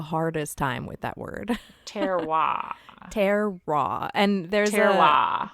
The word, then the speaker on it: terroir: I was hoping you would pronounce that because for some reason I have the hardest time with that word. Terroir.